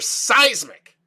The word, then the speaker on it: Cysmic: thing at all but I'm gonna go with a hard C a hard C in a spidey sense but let me know in the comments below what's your final grade for seismic as always if you